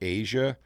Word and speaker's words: Aja: It says pronounced Asia, inspired by the continent.